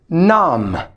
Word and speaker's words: numb: we have the word num it's pronounced num when your fingers or toes go numb you don't feel them